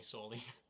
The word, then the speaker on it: Saul: if you want to call me soy can I call you Brian you can if you want to yeah I mean it's not my name but you can call me it say it's spelled s a u l like uh like Paul but with an S can I call you